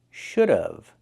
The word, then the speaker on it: should have: Pronunciation should have. We hear of should have. The pronunciation use the uh sound like cup and up plus the vv sound like in vegetables.